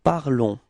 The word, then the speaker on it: parlons: you will get nous parlons. Repeat. Nous parlons. Okay? So keep in mind that final S is not pronounced, okay? So it's only this on, the sound on at the end of this verb, okay?